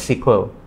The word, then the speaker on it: SQL: language so the full name of SQL is pronounced as sequel is a structured query language so it's a